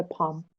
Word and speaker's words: palm: نخلو پام تری الش پرونانس نمیشه. نخل. کف دستم میشه پام. PALM. الش سایلنته. پام.